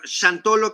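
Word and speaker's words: Xantolo: en ambas lenguas entonces del latín santorum derivó al el nag Antiguo sholom con m al final y ahora chantolo que se escribe con x al principio x a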